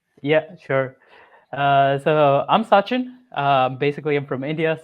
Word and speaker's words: Sachin: about yourself and uh and also the proper pronunciation of your name maybe yeah sure uh so I'm sain um basically I'm from India so it's a